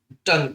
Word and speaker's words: tongue: U silent, TONGUEE टंग, टंग मैंने होगा जीभ, GUARD गार्ड मैंने होगा रक्षक, GUEST गेस्ट मैंने होगा अतिथि।